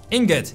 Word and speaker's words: ingot: one Ingot Ingot okay I know how to pronounce it it's an Ingot right not an ignot that's that's very wrong okay bang here we